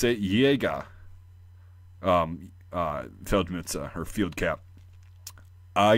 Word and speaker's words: Jäger: But they'll still pronounce you, or jeez, they'll still understand you if you pronounce it like Jäger instead of Jagger. It's not Mick Jagger, even though his name, like the roots, probably came from the German word Jäger.